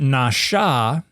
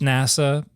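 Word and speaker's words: נשא: read diacritics, they think N-A-S with a chevron on top of it, A, is pronounced NASA, but it's nasha.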